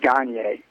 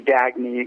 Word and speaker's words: Gagne: The correct pronunciation is Gagne. It's sort of, morphed into Gagne, got Americanized.